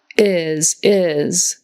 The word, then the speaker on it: is: All the short little words in English that end in S, like is, was, has, his, as, they all have a Z sound instead of an S. Spelled with an S, but it's a Z.